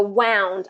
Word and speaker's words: wound: right verb okay so wound I wound the clock wound has that ow ow sound I Round the Clock